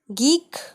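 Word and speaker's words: geek: Gate, गीक, गीक मतलब socially inept person.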